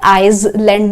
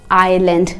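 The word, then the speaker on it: island: wait तू डी आइलैंड आप इसे आइस लैंड नहीं एस साइलेंट है आइलैंड प्रोनाउंस करते हैं ब्यूटीफुल सनसेट मैंने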